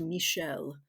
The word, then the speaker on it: Michel: But yeah, it's a it's a male name, but it's pronounced Michelle.